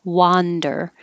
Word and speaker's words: wander: because it's wonder and this is an a that sounds like an a i guess ah wander so wonder your jaw